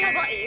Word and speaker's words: Hawaii: You notice that when we say Hawaii, we pronounce the I's E-E.